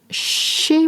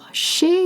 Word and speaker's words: chez: You also use moi after chez, such as chez moi. Chez is spelled C-H-E-Z. You can look up the transcript. Chez. It's not chez. It's chez. Chez moi means at my place.